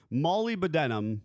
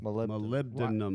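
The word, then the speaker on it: molybdenum: Mollyenum. Mollyenum. So the the technical way of pronouncing it is malibdum. Nope. Not malibdum. Malibdum. Malibdinum.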